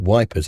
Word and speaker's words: Ypres: be able to know what this is or pronounce it. But if we call it Wipers, everyone knows what it's about.